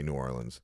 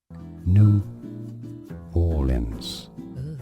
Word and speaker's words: New Orleans: New Orleans. New Orleans, not New Orleans. New Orleans, it's how it's pronounced. It's named after a French city named Orléans.